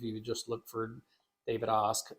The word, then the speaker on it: Ask: So if you just look for David Osk, so my last name, of course, is spelled like ask. So if you're listening right now, it's Ask, Yeah. pronounced Osk.